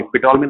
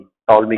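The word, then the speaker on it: Ptolemy: ऑफ यूसिड एंड टॉलमी, पिटॉलमी नहीं, टॉलमी कहते हैं, पी साइलेंट है, टॉलमीज की एक बुक है, उसका नाम है अल्मेजेस्ट, है ना, अल्माजेस्ट, ये इनकी बुक है।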